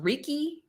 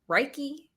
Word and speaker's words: Reiki: something where they said what's it how's it pronounced? Reiki? Reiki? Reiki. Reiki.